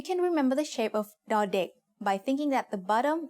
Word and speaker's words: ด: As the initial consonant of a syllable, ดอเด็ก makes the sound d, just like the letter D in diamond.